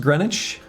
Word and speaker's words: Greenwich: Recently you learned green witch is pronounced Greenwich.